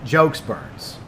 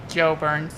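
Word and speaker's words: Geaux Burns: And so, Professional, tell him the way he pronounces my name. Joe Burns. Yeah, Joe Burns. Like J-O-E.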